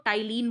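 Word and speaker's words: ptyalin: है बोलते क्या इसको टाइल इन बोलते हैं लेकिन लिखते क्या है पीट आयरलैंड ठीक है तो पी को साइलेंट कर दिया गया यहां पर इसको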